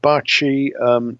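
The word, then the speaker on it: Bacci: recordings just google him it's spelled Bochy his atoning of course and barchi means kiss and it's bacc i so if you want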